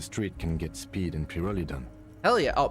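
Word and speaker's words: Pyrholidon: And the kids on the street can get speed and pyrrolidon. Hell yeah. Oh, Purolidon. That's how it's pronounced.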